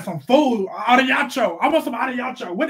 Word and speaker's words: arigato: Arigato, what it is?